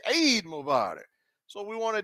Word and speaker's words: Eid: So the pronunciation comes from back here. Eid, Eid, it's iron, Eid.